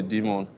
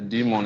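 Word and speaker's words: daemon: the client is the demon and the demon is spelled d a e m a demon is like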